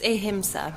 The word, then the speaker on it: Ahimsa: with how do you say AA media it's ahima ahima what is Aima media um AA media